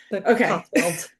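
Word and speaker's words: Cotswold: So, first of all, am I saying it right? Cotswald crime mystery. Am I pronouncing it right? Yeah. Cotsweld.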